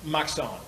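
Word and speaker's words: Machson: his first name uh Maxon m-a-c-h-s-o-n it's pronounced Maxon it's hard to pronounce but uh that is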